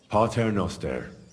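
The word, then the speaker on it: Pater noster: listening to the priest you're saying it wrong listen it goes like this parter noer in inter all right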